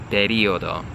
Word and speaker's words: periodo: So in Italian, I have to say periodo, okay? Periodo.